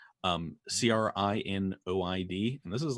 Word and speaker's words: crinoid: It's I believe it's pronounced a crinoid, crinoid, and this is like in the bottom of the ocean.